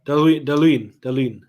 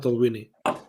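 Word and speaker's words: Dalwhinnie: Yeah, Daluin, not Dalwini.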